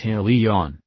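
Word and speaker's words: עליון: enough it comes from the hebrew word elian or pronounced aleon these potentates are aliens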